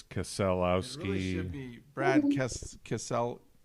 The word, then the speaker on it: Keselowski: And then Brad Keselowski came in number 2.